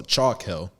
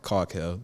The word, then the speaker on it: Chalk Hill: So Chalk Hill, I've been calling it Caulk Hill, but yeah, it's a rosé chalk.